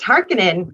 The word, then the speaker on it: Harkonnen: So it's really interesting, though, to hear everybody talk about it, because I was like, it's just Harkonnen. That's how you pronounce it, And it's I don't want a cheesy version of Dune, especially after seeing this and having read the book.